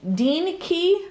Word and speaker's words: DEENKEE: Rosie a company called Dean Dean key I believe is how you pronounce it reach out to me